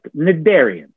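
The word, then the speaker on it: cnidarian: and that is the nadarians notice how i didn't pronounce the silent c just nidarian now think of these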